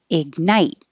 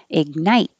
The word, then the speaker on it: ignite: Ignite. Don't say the g, just hold the tongue. Ignite.